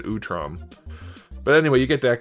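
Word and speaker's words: Utrom: And then lastly, you get the Utam or Utram. Question of the day, how do you pronounce that? Utam or Utram. I've always said Utram.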